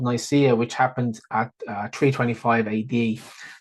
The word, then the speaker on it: Nicaea: So around 35 minutes in, you will hear him say the Council of Nice. And I went and checked the book. It actually says that's what it says. But I believe that that's a misprint in the book, because I think it's the Council of Nicaea, which happened at 325 AD.